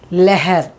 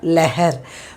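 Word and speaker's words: लहर: The first one, for this one it is leher. See the pronunciation, how I've done. It is leher, leher. When her comes, the previous word will be as sound.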